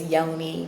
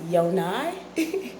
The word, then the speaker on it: Yonai: A lot of people know me as Yoni growing up, but that's not how my name pronounced. My parents said it's pronounced Yonai.